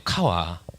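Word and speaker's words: קוה: 이게 카와라고 읽는데요. 카와. 예, 우리나라 말 아니에요.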